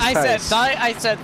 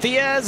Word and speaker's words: Tice: of Tice, I believe, we've been saying it wrong, Joseph Tice does come to pit road. Yeah, We said every way but the right way. Yes. I believe it is Tice. We said Diaz.